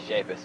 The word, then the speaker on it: Shapus: Yeah, it is Shapus.